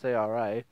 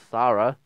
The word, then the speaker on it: Sara: how you pronounce it, it's Sara, so Sara. Not Sarah, not sure, doesn't really matter anyway.